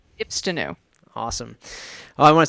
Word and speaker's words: Ipstenu: Oh, I'd almost want to say it's how to pronounce Ipstenu because everybody seems to get that wrong. So Ipstenu. Ipstenu.